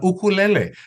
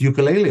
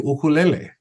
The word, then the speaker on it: ukulele: An ukulele, mispronounced ukulele all the time, but an ukulele actually is a little guitar brought by our family from Portugal.